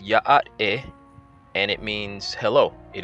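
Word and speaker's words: Yá'át'ééh: This word is pronounced Ya'at-e, and it means hello.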